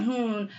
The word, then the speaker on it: Jihoon: I don't know if it's just because of how blunt Jihoon is. Am I pronouncing that right? Jihoon. Yeah. Jihoon.